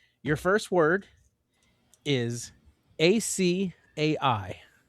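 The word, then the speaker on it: açaí: It is a three-syllable Brazilian Portuguese from the Amazon, not akai or acia. It's acai.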